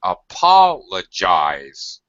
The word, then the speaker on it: apologize: minutes up until now a Paul Paul gets primary stress eyes is getting what we call secondary stress it ha it's loud it's stretched it has full pronunciation of the vowel however it's low pitch it's low very low as opposed to primary stress which is very high apologize apologize criticize all